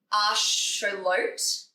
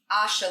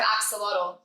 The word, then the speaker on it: axolotl: Apparently, it's actually um, pronounced asholot, ash-uh-lots Okay. instead of axolotl, um, because the word comes from water monster